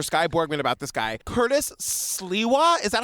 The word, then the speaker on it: Curtis Sliwa: many questions for Skye Borgman about this guy, Curtis Sliwa, is that how you say his name?